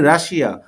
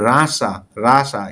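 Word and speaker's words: Russia: রাশিয়া, আমরা বলি রাশিয়া, আসলে ইংলিশ হবে রাসা।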